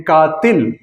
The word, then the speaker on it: قاتل: کام کرنے والا قاتل، تیسرے حرف کے نیچے زیر ہے اور اس کو ہم پروناؤنس کرتے ہیں قاتل۔ کوئی بھی پڑھا لکھا آدمی وہ اس کو قاتل نہیں کہے گا بلکہ اس کے صحیح تلفظ کے ساتھ قاتل کہے گا۔ تو اصول